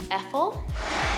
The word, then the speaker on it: Effol: I've never actually purchased any Effol, that's how you say it, products before, so that'll be something new and I'll let you guys know what I think.